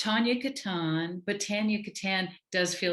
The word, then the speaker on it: Tania Katan: sound more impressive than the american version which is really a french name so it's tonya katan but tanya kattan does